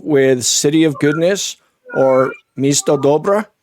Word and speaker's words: Misto Dobra: Marta Levchenko with City of Goodness or Misto Dobra. Did I say that right? You said it right.